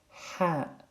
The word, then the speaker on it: ح: From your throat, say Ha, not Ha, Ha.